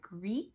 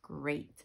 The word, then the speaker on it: great: in the middle but it's not greet it's great so this one doesn't really follow our rules you would think it would have a long a here instead of the ea talk if you cover